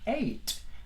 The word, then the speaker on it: eight: Es como decir una E, una I y una T. Realmente no es mucho más que eso. Vamos a tomar la G y la H como silentes, no las vamos a pronunciar.